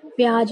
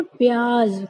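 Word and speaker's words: प्याज़: प्याज लेने गए हैं, लेकिन वो क्या होता है, उसका गलत उच्चारण होता है। इसका सही उच्चारण क्या होगा, यानी इसको सही बोलने का तरीका क्या होगा, प्याज। क्यों? क्योंकि जा के नीचे नुक्ता लगा हुआ है, तो इसको हम लोग बोलेंगे प्याज, ना कि प्याज।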